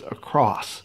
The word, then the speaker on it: across: end of it there's not an e t on the end of it never has been ever has been every time you say that and i hear a lot of people say that you're saying it wrong you're using a word that does not exist please stop doing that it's a cross simply across and put something under